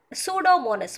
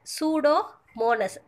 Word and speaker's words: Pseudomonas: Pseudomonas. What is that? Pseudomonas. P is a silent. Okay, va? P is silent. Don't pronounce that. Pseudomonas.